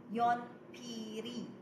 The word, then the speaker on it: 연필이: That's why you're going to say yonpiri. Okay? Pero way batchim parehan, we are going to pronounce it as yonpil.